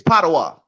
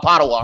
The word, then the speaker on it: Padova: in Padova yeah yeah it's potawat yeah I ran up so that's how I figured out how to say it excuse me I was saying no I ran down got my little chick from third place so I started saying everybody it's called pottawa right all right right you